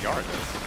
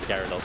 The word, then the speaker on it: Gyarados: Is it Gyarados or Gardos? It's Gyarados. I think I said it wrong.